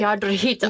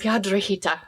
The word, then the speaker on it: Piedrahita: Piedrahita. Yes. Did I do it? Yes. Piedrahita. Okay, I rolled my R's.